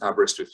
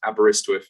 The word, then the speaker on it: Aberystwyth: uk i'll then say why students should choose aberystwyth university what what can we offer you to